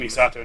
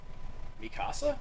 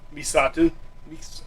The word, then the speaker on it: Misato: Actually, The Misato. blue-haired one. Yeah, I'm Team Misato now. Mikasa? Misato.